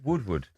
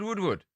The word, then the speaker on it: Woodward: You said Woodwood Wood. What's his first name? Edward. What's his surname? Wood. That's what I just said. Edward Woodward. You say his name. Edward Woodward. Edward Woodward. It's the same person. His name's Edward Woodward.